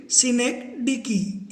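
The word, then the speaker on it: synecdoche: सिनेक डिकी। इसका pronunciation थोड़ा awkward है तो मैंने लिख के दिया है आपको सिनेक डिकी।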